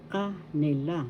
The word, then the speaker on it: kaila: Second syllable has the accent and that means they kaill ka first syllable ka second syllable ni third syllable la kaila so first and the third syllable has the accent kaila this means theirs let's